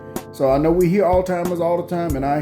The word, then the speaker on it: Alzheimer's: So, I know we hear Alzheimer's all the time and I hear and I know what you're talking about, but that is not the proper way to pronounce it. It's Alzheimer's.